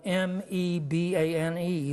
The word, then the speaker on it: Mebane: the small town of Mebane, North Carolina. That's spelled M-E-B-A-N-E, like me-bane, but pronounced Mebane, located in Alamance County near Chapel Hill.